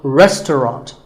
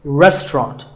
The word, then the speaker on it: restaurant: The second syllable is just ta, and the third is ront, so restaurant. In British English, you might hear just 2 syllables, restaurant. That is also correct.